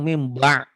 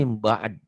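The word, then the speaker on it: مِن بَعْد: Orang banyak salah membaca. Yang baca cuma ini doang mimba. Berarti salah artinya. Harusnya Iya. mimba'ad gitu, mimba'ad.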